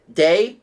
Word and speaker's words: Day: So, Desiree says, I am Desiree Gamayen, also known as Day, pronounced like day.